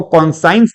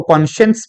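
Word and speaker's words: conscience: इसको कॉन्साइंस नहीं, इसको कॉन्शियंस पढ़ा जाता है। कॉन्साइंस नहीं, कॉन्शियंस पढ़ा जाता है, लेकिन अपनी सुविधा के लिए कॉन्साइंस भी चलने देते हैं सर।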